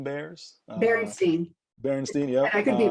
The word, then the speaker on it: Berenstain: But I remember reading to my kids, maybe I pronounced this wrong, is it the Bernstein Bears? Berenstain.